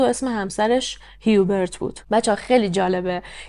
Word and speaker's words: Hubert: بود و اسم همسرش هیوبرت بود بچه‌ها خیلی جالبه که فرانسویا هیوبرت رو اوبغ تلفظ می‌کنن واقعاً من تا مدت‌ها